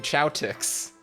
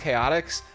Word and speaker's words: Chaotix: you read c-h-o-t-i-x you're thinking oh that's team Chow ticks it's not it's pronounced chaotics but I didn't know that until I was